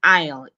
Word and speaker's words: aisle: will explain it again notice the silent on S the s in aisle is it is completely silent and aisle is an